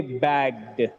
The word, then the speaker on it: bagged: If the word ends with g sound, if the word ends with g sound, it gets d sound at the end. Let me take the examples. Read out the examples now. Bagged. The root word is bag. The last sound is G. The last sound is G. The sound should be bagged.